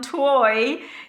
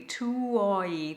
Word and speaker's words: tuoi: And on tuoi, you've got one note but three vowels to fit in. So you just work through them smoothly. Tuoi, tuoi.